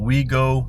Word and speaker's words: WeGeaux: They spell it. It's I'm looking at the sign right here. It's We Go Cafe. We e as in we and then go G A uh G E U A X.